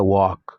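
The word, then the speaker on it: walk: لکه واک واک دبلیو ای ال کی واک، دا واک نه ویل کیږي، واک ویل کیږي، ال پکې نه تلفظ کیږي په دغه تور کلماتو کې.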